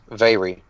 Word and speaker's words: Vaeri: The word for fly is Austrat, A-U-S-T-R-A-T, and dance is Vaeri, V-A-E-R-I.